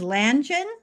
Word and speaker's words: Lange: No, it's Lange, understandable.